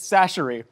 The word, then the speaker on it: Chachere: cheese is really nice against the spicy Tony Chachere's. I'm taking it all Yeah, in. hello. Not a sponsor, mean, maybe it's not bad future pizza. sponsor. Also, it turns out we've been mispronouncing it. It's Chachere.